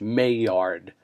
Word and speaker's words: Maillard: It's pronounced in English Maillard.